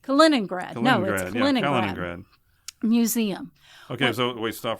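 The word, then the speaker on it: Kaliningrad: a cing grad no sorry how do you pronounce that kenrad kenrad museum okay so wa stop for a second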